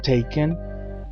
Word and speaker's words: take: ser llevar Take took taken takes taking la forma base de este verbo termina en K y e pero la letra e no suena y se pronuncia Take la forma del pasado